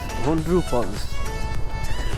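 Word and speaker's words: Hundru Falls: জায়গাটায় যাচ্ছি সেটা কেমন হুন্ড্রু ফলস হন্ড্রু ফলস উচ্চারণটা হন্ড্রু ফলস ব্রিজের ওই পাশে ব্রিজের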